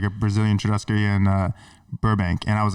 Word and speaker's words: churrascaria: It's like it's a what's called a churrascaria. It's like a Brazilian steakhouse. I love that word. That was good. Yeah. That was a good pronunciation.